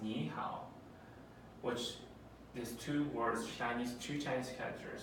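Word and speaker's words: 你好: say hello in Chinese and in Chinese is pronounced Nihao which is two words Chinese - Chinese characters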